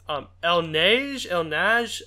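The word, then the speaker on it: Il Neige: It's El Nage. It's like, it's spelled ILNEIGE. It's a really weird name.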